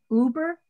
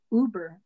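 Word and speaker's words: Huber: of a person named i think it's pronounced leonce uber h-u-b-e-r and so um he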